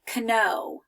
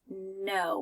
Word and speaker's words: know: my name and here I don't say Konoe I can know how to write my name I just say the word re just say this the word like this no without the K sound at the beginning okay here's another one